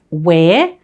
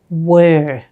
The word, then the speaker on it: were: lesson welcome back now this word sounds different to the other words because it doesn't sound like where it's actually pronounced were as in ER were